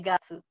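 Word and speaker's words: 月: En mes se lee gatsu.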